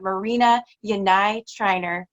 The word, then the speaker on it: Marina Yanay-Tiner: We have Marina Yanay-TinerWILD. Welcome. Thank you so much. And you pronounced my name right.